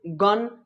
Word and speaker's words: gun: मरा दिए हैं कि बाबू GUN, गन, गन के मतलब होता है बंदूक। तो बट हमको ये क्लियर नहीं हो पाया कि सर जी को ना हम ग ही क्यों बोलते हैं और ज क्यों नहीं बोल सकते हैं। जब गन पढ़ रहे हैं तो जन क्यों नहीं पढ़ सकते हैं।